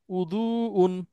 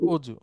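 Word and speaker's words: وضوء: আরবরা পারে আমরাও পারবো দ টা দ এবং জ এর মাঝখানে উচ্চারণ হয় জিহ্বা এবং দাঁতের সাথে মিল করে যেমন আমরা বলি না অজু জি ওজু হ্যাঁ ওযুর মূল আরবি হচ্ছে উদুন হ্যাঁ উদুন এইটাকে আমরা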